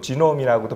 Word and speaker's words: 게놈: 보통 유전체 하면은 영어로는 게놈 또는 뭐 지놈이라고도 발음을 합니다.